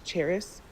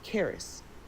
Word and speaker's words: Cheris: her years and he her name is Cheris and it's spelled she C H E R I S. Um but he told me her name's not pronounced that way. her name is Caris.